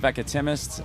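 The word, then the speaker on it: Veckatimest: now yeah yeah um the album is called veca timis uh that is how you pronounce it a lot of people having a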